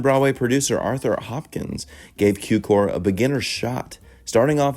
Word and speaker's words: Cukor: film, the artist, George Cukor. Yes, it is pronounced with a Q and not the Ku. Born as George Dewey Cukor from a Jewish-Hungarian family